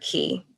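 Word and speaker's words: Caye: jungle and i was on southwater key mckee is a very tiny tiny island um it's spelled c-a-y-e and one early morning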